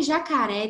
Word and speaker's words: jacaré: Jacaré, não, já tem uma tonicidade mais aberta, então vai receber o acento agudo. Então, é mais assim, para gravar mesmo as regras de acentuação, vou falar várias aqui.